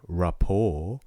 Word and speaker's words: rapport: both words report and rapport yeah you don't say the t there's a silent t um i think they